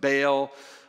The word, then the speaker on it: Baal: Now the name itself, daughter of Baal, which is a reference to Baal, or sometimes you pronounce it Baal, who is a false